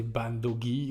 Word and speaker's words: bandogge: on peut aussi voir une autre orthographe de Bandog qui pourrait se prononcer bandogy ou ban dog c'est une orthographe ancienne